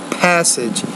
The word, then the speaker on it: passage: First of all, when you say the P, passage, you have to pronounce that with more air. So listening passage, not listening passage, but passage. A little bit more air has to come out.